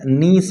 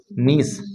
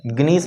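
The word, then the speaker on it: gneiss: Granite को जब convert करते हैं तो ये चेंज हो जाता है नीस में। नीस, जी साइलेंट है, ग्नीस मत पढ़ लेना इसको।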